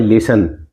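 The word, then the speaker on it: listen: silent रहता है इसमें लिसन इसमें टी साइलेंट रहते है इनकी आवाज कहीं नहीं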